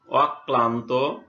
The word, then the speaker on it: অক্লান্ত: যেমন অক্লান্ত, এখানে কয় ল ফলা আছে, এখানে দ্বিত্ব উচ্চারণ হয়েছে, অ, কয় হস, কয় ল ফলা আকার, দন্ত নয় তয়।